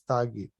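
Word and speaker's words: त्यागी: word, tagi, which is in Bengali when they say tyagi, they pronounce it as tagi. So he says the essence of Gita in one word, if you want, it is tyagi, that is renounce.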